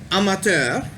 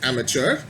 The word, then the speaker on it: amateur: pronounce it would be amater because that of course is a french word so we in english of course we say it as amateur but it's amateur now